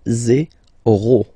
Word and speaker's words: zéro: Okay, so remember, you get this z and then e accent aigu, zéro.